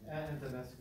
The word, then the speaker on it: Antonescu: Antonescu.